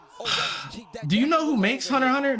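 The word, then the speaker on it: Hunter × Hunter: Hunter Hunter is actually I remember when they were advertising for Hunter Hunter. Like I used to think it was Hunter X Hunter and then they put in like the subnote don't pronounce the X.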